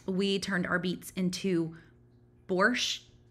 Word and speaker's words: borscht: turned our beets into borscht ends with a t so i feel like you should say the t right or my husband corrects me when i don't say the t borscht um it's like beet